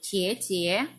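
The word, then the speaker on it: 姐姐: Mandarinnya adalah Ciecie Ciecie Biasanya kalau orang Chinese menyebutkan Kakak laki-laki itu kan koko kakak perempuan itu cici tapi dalam dialek bahasa Mandarinnya pengucapan yang benar adalah suku dan Ciecie Oke ada adik laki-laki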